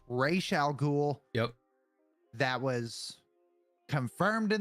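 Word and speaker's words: Ra's al Ghul: say his name, it's Raish al Ghul. Yep. That was confirmed in the animated series all the way back in the 90s. It is Raish al Ghul, not Raz al Ghul.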